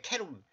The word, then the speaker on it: 케루빔: 원래 이게 발음으로 히브리 발음으로 케루빔이에요. 케루빔.